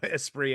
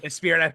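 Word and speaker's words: Esprit: I want Aspree gear now, too. I don't think I pronounced that correctly when I was a kid, though. Espree. I think I probably spirit. I was like a spirit.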